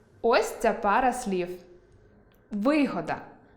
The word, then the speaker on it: вигода: Подивімося на цю пару слів Вигода – те, що дає прибуток. Вигода – зручність. Прочитайте пари слів зі словорозрізнювальним наголосом.